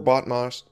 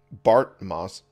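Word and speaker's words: Bartmoss: arsenal talking is hard before botmos bart moss i said it right before bart moss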